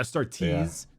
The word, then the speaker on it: Astartes: the adept this us it's like astartes right which are space marines and that's a-s-t-a-r-t-e-s i think i started yeah start tease t-e-s this is custodies